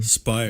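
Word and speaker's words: Speier: And the media members went back to Port Kaituma to sleep, while Leo Ryan and Jackie, how do you say her last name? Spire. Congresswoman Jackie Spire.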